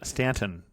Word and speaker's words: Staunton: a little stop in Stanton, Virginia. I want to say Staunton because it's spelled that way.